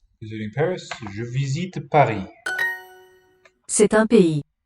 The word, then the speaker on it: pays: Pays. Pays. Pays. 2 syllables.